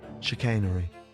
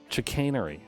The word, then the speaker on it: chicanery: quibbling dishonest or sharp practice how do you pronounce it though or it's the chicanery chicanery oh thank you apparently this chicanery is is